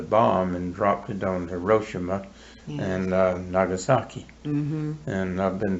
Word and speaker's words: Hiroshima: You hear people say Tokyo and Hiroshima. Those are not right. Right. It's Hiroshima and Tokyo.